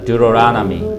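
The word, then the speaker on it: Deuteronomy: 듀로라나미. 그러니까 맨 가운데 있는 O의 액센트가 있어요.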